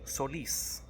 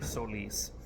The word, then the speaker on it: Solís: And I believe it was a way of distinguishing the name by having folks say Solís, right? That emphasis on the I.